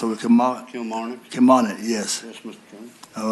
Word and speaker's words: Kilmarnock: Bill by 874 by Senator McDougal, charter change of Kim, how you pronounce it, Kilmarnock. Kilmarnock, yes.